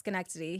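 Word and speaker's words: Schenectady: and be like, "All right, here's how you pronounce Skenkity.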